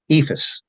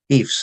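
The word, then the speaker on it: EIFS: and the surrounding states ephus or Eeps as Some people prefer to pronounce it uh is in um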